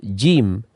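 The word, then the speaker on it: ج: Jangan sampai kita mengucapkannya seperti ini, jim atau jim, ja ya. Ya, nanti kita akan melihat penjelasan dari huruf jim di pelajaran yang akan datang. Kemudian kita lihat pengucapan yang benar adalah jim.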